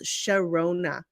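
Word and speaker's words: Sharona: my song is oh shirona oh my God I love that song okay so this is how you pronounce sherona beautiful name so so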